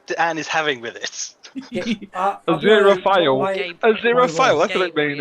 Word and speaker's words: Aziraphale: do you pronounce your name? Aziraphale.